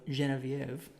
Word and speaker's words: Genevieve: Although Genevieve, which is the correct way to pronounce her name, doesn't rhyme very well. So this is Genevieve.